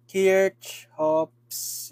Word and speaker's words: Kirchhoff: another lesson which is K chops loss ccops K chops or whatever you may call that pronounce kirch hops law yan so ito maganda